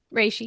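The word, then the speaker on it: reishi: Rishi. Rayi.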